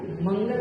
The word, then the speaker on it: मंगल: मंगल, तो मंगल को नहीं बोले बिंदी है ना, तो मंगल क्यों? सब कवर्ग का है ना, कवर्ग का व्यंजन, तो कवर्ग का व्यंजन होने से बिंदी का उच्चारण कवर्ग का आधा पंचम अक्षर, इसलिए मंगल, कंकाल।